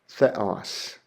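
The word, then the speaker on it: θεός: A theta makes a th sound like we would find in the word thin. And the Greek word I have there is the word for god. So that would be pronounced thos theos.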